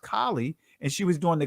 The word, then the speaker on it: Kali: Remember, Beyonce had a video out where she had Kali spelled with an E at the end, but it's still pronounced Kali, and she was doing the Kali dance of death, which is a sexual ritual.